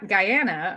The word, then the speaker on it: Guyana: you were saying about the community in guy Guyana I'm like let me say it right um